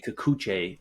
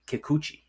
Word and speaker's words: Kikuchi: win game one uh you say kuche verse the pronounced it wrong you Kikuchi I'm sorry you Kikuchi there you